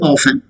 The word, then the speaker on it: often: Often. It's not often. It is often. T is silent, but people tend to speak utter this word, pronounce this word as T also with T. Often is also sometimes accepted. Even I speak often.